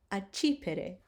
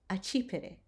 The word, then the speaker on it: accipere: So two C's together, you will pronounce ch.